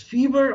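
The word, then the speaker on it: F.E.V.E.R: fever which came out i don't know whether to pronounce it as fever or f dot e dot and how do you pronounce this i say fever yeah like like fever yeah because there are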